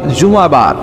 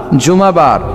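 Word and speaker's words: جمعة: আসলে বলা উচিত জুমাবার। কিবার? জুমাবার। সূরাটার নাম হচ্ছে সূরাতুল জুম। আমার সাথে সাথে বলেন সূরাতুল জুম। সবাই বলেন সূরাতুল। জুমা। অনেকে বলে ফেলে জুমা। জুমা। আসলে আরবিতে শুদ্ধ উচ্চারণটা হচ্ছে জুমু।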